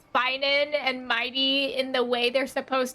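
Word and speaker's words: Mydei: of people pronounce it my day because they're used to pronouncing the like day. the way they pronounce it is actually a little closer to the Greek.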